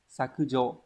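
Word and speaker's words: 削除: Hán tự đây là sẽ là chữ tước và chữ trừ đúng không? Như vậy tước trừ sẽ đọc là sakujo.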